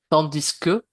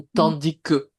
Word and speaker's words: tandis que: ici, avec tandis que, ça dépend des régions. Dans le sud, à Toulouse, on prononce le S. Victoria, je dirais qu'à Bordeaux aussi. Oui, Quand on parle, on va prononcer le S. Mais si tu ne le prononces pas, c'est la même chose. Tandis que ou tandis que, c'est pareil, hein.